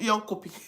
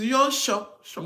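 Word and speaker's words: Jönköping: It's not yon copy. Yeah, shh. That was J coming. is ye. Is ye like Their J is pronounced as Y. so? It's yon shopping.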